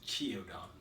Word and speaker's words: Qiaodan: It actually looks like Qiaodan, but it's pronounced as Qiaodan.